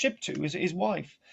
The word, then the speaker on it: Shiptu: She is pronounced Shiptu, is his wife.